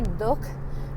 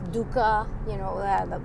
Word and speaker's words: dukkha: And we say dukh, but in it's dukkha, for all the Americans and anybody who doesn't speak Hindi, because it's spelled like D-U-K-H-A, because I guess you can't pronounce it as just D-U-K-H, otherwise people will say duck.